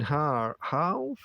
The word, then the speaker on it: half: I would pronounce the L in half. No, I wouldn't. Half. It gets kind of an R sound, doesn't it?